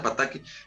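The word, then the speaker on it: Potocki: Potoki, es Potoki, Potoki, lo Sí, siento. pero, o sea, se pronuncia Pataki, pero para que lo ubiquen, Potoki, ¿no?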